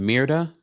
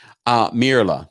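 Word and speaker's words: Myrla: What was it? Mirda? I can't pronounce her name. It's unimportant. You know who I'm talking about. Mirla. There we go.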